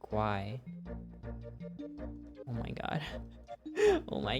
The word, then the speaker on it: Uruguay: The Guay in Uruguay is pronounced Guay.